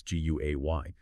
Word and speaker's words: Guay: our producer, Julius Guay, that's G-U-A-Y, pronounced Guay, on LinkedIn.